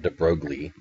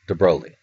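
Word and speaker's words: de Broglie: Lou de broi and that it's how pronounced it's not de brogi de brog it's de broi de broi proposed that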